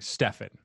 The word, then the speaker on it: Stefan: bit and excuse me do you pronounce it uh stephen or stefan i just want to make sure i say it properly oh thank you for asking stefan stephanie definitely great yes